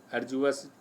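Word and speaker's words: arduous: अर्जुअस डी नहीं पढ़ते हैं, जा पढ़ते हैं उच्चारण में, अर्जुअस।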